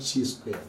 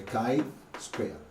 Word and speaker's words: chi-square: about the chi square say with me the chi square not c squared this is called it or pronounced at the kai square and the way that